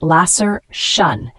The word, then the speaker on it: laceration: o n is a noun pronounced Lasser shun it signifies a deep